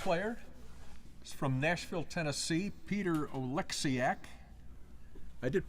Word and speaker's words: Oleksiak: Our next player is from Nashville, Tennessee, Peter Oleksiak. I did pronounce that correctly?